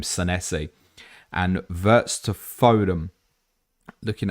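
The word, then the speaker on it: Senesi: I saw Neil Grover tagged me into a clip yesterday and he definitely pronounced his name Sessi and Vertz to Fodm.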